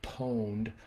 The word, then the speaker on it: pwned: Um, PWN, pronounced like own, but with a P at the beginning, so pwned, is actually a typo from an old video game.